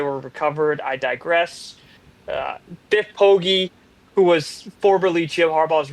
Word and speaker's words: Biff Poggi: If you look this guy up, look up Biff Poggi. It's spelled how it sounds.